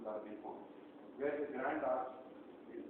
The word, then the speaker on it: La Défense: It's pronounced La Défense.